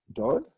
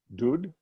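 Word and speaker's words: דוד: Whether it's dod. Wrong alphabet here. Dod or dud. Oh, what was that? Or, sorry, dud. Not doing its thing. Dud. Or David.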